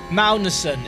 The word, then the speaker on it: Magnussen: Magnussen is actually pronounced Magnussen. It's soft.